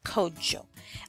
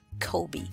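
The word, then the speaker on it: Kwadwo: born male most commonly people would refer to you as Kody Joe or Kobe those are the two most common versions of that name that I've heard and some may pronounce it quad chill all right so moving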